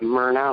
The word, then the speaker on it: Myrna: More like Myrna, like Myrna Lloyd, the movie star, so it's Myrna, right.